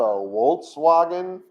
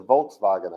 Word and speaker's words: Volkswagen: out of germany well in germany they have this letter called a w in their language and it makes the wha sound right no it doesn't it makes the sound do you drive a volkswagen or you do you